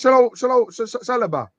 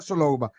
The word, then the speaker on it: Saliba: Look at the mess with Saliba. Not Saloba. Saliba, I'm going to say it right.